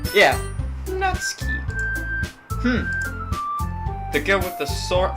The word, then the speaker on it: Natsuki: How do you pronounce it? Natsuki? Yeah. Natsuki.